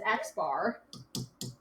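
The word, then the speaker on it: x̄: use this notation and it's read as x bar so if you ever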